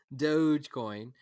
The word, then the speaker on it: Dogecoin: calls dogecoin doge rogecoin you pronounce the g like a j dogecoin um um and um